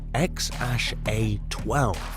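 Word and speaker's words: X Æ A-12: how to pronounce that name musk says it's pronounced x-a-12 okay so we'll try to keep that note remembered 8.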